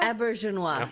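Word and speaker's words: Auberjonois: Aubernjonois. Is that how you pronounce his name? Aubernjonois? Aubernjonois, yeah.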